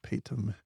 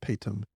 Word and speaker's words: Paytm: I think it's called Paytm or pronounced Paytm, Paytm.